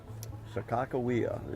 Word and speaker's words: Sakakawea: Sakawia. Sakakawea is what they think the way it was really And pronounced.